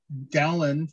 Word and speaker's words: Dowland: And the side story here is that John Dowland, or Doolin, depending on how you pronounce it, wrote all of his music in countertenor, just about all of it.